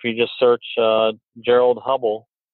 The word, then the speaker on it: Hubbell: just search uh gerald hubbell h it's not spelled the same as edwin hubble it's h-u-b-b-e-l-l instead of l-e on the end uh you'll find those